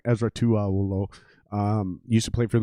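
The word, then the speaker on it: Esera Tuaolo: I keep saying his name wrong. Ezra Tuaolo.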